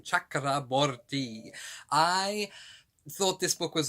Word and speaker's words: Chakraborty: i just love the sound of her name chakraborty i thought this book was okay i really